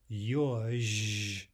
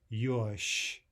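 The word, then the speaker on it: ёж: So instead of yozh, we're saying yosh, yosh.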